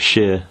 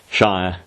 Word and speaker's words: shire: of Hexum of course when I pronounce it at the end of a word it's always sheer not Shire and I know that